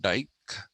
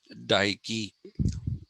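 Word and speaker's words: Dike: persephone or another goddess whose name is daiki uh not dyke dyke has a completely different meaning uh daiki so this is completely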